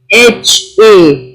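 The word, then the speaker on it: حاء: Jim, Jim, J-E-E-M, Jim, Ha, H-A, Ha, Ho. This is a heavy letter.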